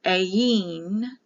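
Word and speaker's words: Ayin: this is the 16th letter for the I a Yin a y i n or a i n a e remember the I is pronounced like an e it can be written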